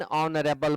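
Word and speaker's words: honourable: ही इज नॉट एन ऑनरेबल मैन, क्योंकि ऑनरेबल जो है अ से शुरू होता है.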